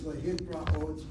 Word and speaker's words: lehit ra'ot: Okay, the last word is lehit ra'ot. Lehit is C-I-N, C-V-C. Ra has a kamatz under it. And one place removed from the accent, which is on the oath syllable. Lehit ra'ot.